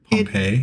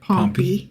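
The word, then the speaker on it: Pompey: So in 63 BCE, Roman general Pompy, Pompei, it is pronounced Pompy Pompy.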